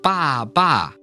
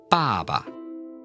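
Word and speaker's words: 爸爸: But if you double this character, it's not ba ba, it's ba ba. 爸爸 Ba ba. So again, notice that neutral tone at the end. It's kind of just like an afterthought more than an actual word.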